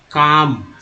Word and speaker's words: calm: जैसे एक बात मैं यहाँ बताऊँ कि CALM क्या उच्चारण करते हैं, नहीं पता है, लेकिन जिनको नहीं पता है तो वो तो कहेंगे ना भाई कि तो कुछ ना कुछ तो उच्चारण करेंगे ही ना, काल्म करेंगे, काल्म, लेकिन एक्चुअल उच्चारण ये काल्म नहीं होता है, तो होता है काम। बताइए काम है क्या, जाहिर सी बात है, एल जो है साइलेंट है, तो ये क्या है समझना होगा।